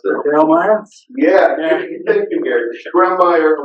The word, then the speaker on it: Grawemeyer: And the, never known how to pronounce that. Grawemeyer?